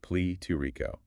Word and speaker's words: pletórico: And that word is platorico. Pronounced plee-to-ree-ko.